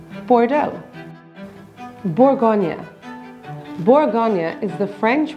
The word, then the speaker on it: Bordeaux: The X is silent in Bordeaux, and EAU is pronounced O, so it's Bordeaux.